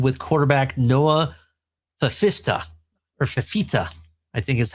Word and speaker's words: Fifita: Um actually you know what let me there's a great thing called Google Google pronounced this. Here we go. That's how you say it. Fifita.